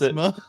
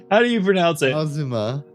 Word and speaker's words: Azuma: to call them, puts Asthma? it. That's what it looks like your name says, Asthma. That is the new one. That is the new one. Really? How do you pronounce it? Azuma.